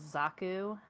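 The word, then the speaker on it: Xaku: one of them is zaku they showed him off quite a bit yeah it's spelled x-a-k-u not z-a-k-u so it's not that's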